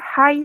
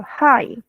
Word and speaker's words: high: Okay, Arvin, there are some mispronunciation seperti introduce. Can you repeat again, Arvin? Introduce. Introduce. Introduce. And then junior high school. High.